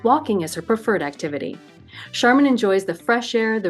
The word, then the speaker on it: Sharman: be here well um you pronounce my name charman just like the stuff you buy in the store that's exactly how you pronounce it and I'm born and